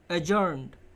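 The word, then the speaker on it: adjourned: এখানে দেখো এডজ। এই ডি এর উচ্চারণটা বেশি হবে না এজড ড্যাশ সানডে নেক্সট সভাটি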